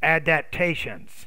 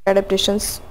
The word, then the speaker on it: adaptations: adaptations so i think with that multi-syllabic word you're not clearly pronouncing the p's and the t sounds be careful go over